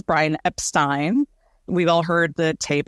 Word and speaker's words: Epstein: of Brian for sure and he says Brian Epstein we've all heard the tape and the Anthology